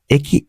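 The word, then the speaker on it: へ: তো আপনার উচ্চারণ কিন্তু এটার জন্য নিটা হচ্ছে নি, আর ওইটার উচ্চারণ কিন্তু আমার হিরাকানা কাতাকানা হে লেখা থাকলেও কিন্তু উচ্চারণটা হবে এ, এটা কিন্তু মনে রাখবেন, ঠিক আছে?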